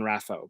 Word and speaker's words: RAFO: my first YouTube videos I was saying hey welcome to rafo rather than rapho because looking at rafo in my brain that should be pronounced rafoe instead of rapho and it took me probably the better part of a year at least to be like oh wait no it's supposed to be rafo and now it's it's in